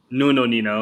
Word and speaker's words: Nuno Nina: How do you pronounce his name? Is that right? Dr. Nuno Nina or No, no, Nina, yeah. Nuno Nina?